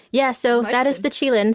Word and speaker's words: Qilin: So yes, pronounced Qilin, spelled Qilin.